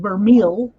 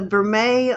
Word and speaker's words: vermeil: spell it i think it's french yeah and it's spelt like this like vermeel yeah real yeah um it